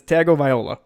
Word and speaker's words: Tagovailoa: He doesn't play a viola. His name is Tagovailoa.